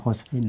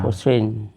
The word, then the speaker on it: Khusrin: Kusarin ke Khusrin? Kalau IC memang Kusarin. Kusarin. Panggilannya memang Khusrin lah. Ya, Arabnya Khusrin lah kan? Khusrin. Ejaannya jadi Kusarin.